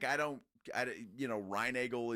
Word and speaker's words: Reinagel: yeah correct them yes no it's reinagle oh I'm sorry it's